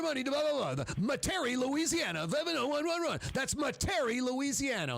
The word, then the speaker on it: Metairie: Is it pronounced Metairie? Metairie? Metairie.